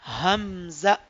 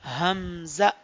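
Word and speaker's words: همزة: तो इस लेटर को भी हमने जल्दी रीड करना है, हमजा। कैसे पढ़ेंगे? हमजा। ओके, तो अब हम इसका भी पॉइंट ऑफ प्रोनाउंसिएशन देख लेते हैं। हमजा का पॉइंट ऑफ प्रोनाउंसिएशन है हमारे पास बॉटम पार्ट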